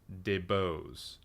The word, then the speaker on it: DeBose: Her name's pronounced DeBose. Oh, excuse me, I've been saying that wrong for weeks.